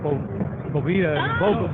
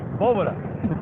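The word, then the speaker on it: Bóveda: That's a Spanish word. It's not Boveda, you dummy. Yeah, it's Boveda.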